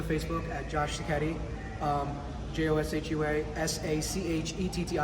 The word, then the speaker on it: Sachetti: JOSHUA SACHETTI. The H is silent. Sachetti. That's it.